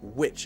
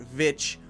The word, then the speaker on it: Witch: so Scarlet Witch Scarlet Witch and there we are saying the W sound so make sure it's witch not vich witch witch with it is short I sound Scarlet Witch Scarlet Witch